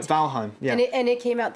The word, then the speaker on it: Valheim: another game it's called valhem i think i'm pronouncing it that's right valheim yeah and it came